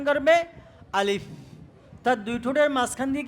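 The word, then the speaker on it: ألف: দেওয়াটাও কি ভুল উচ্চারণ শুদ্ধ উচ্চারণ হলে আলিফ কি উপরের দাঁত নিচের ঠোঁটের সাথে লাগবে কিভাবে আমার দিকে সবাই আমার মুখের দিকে সবাই তাকাও আলিফ আলিফ আলিফ আলিফ এটা হলো কি আলিফের শুদ্ধ উচ্চারণ আমার উপরের দাঁত নিচে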